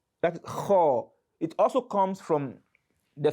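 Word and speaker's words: خ: One is kho, one is ko, kho, ko. They are different. They sound differently. So the pronunciation is kho, kho, kho.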